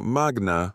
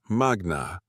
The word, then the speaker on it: magna: Usted dijo Magnaum la Harvard Law en su presentación, pero pronunció magna mal. Es magna, no magna. Las reglas de acentuación latina caen en la penúltima sílaba cuando contiene una vocal larga.